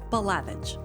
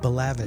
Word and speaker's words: Balavage: Now, how do you say your last name? Balavage. Balavage.